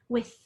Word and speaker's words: with: But what I'm saying there is I can say the TH with my voice. That means my voice box is actually going to vibrate a little. Or I can say it like this with, I'm only making that sound in my mouth. That's unvoiced.